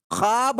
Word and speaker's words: ख्वाब: ख्वाब में साथियों यहाँ वाव साइलेंट है, ये वाव मादूला की मिसाल है।